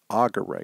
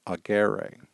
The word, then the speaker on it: agere: This is going to cause the accent to fall on the previous syllable, not on the stem vowel itself. So, for example, we'll have agere instead of agere.